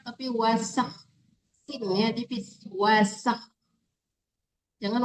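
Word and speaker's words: وَسَخَّرَ: Bukan wasyak tapi wasak. Tipiskan sinnya. Wasakas.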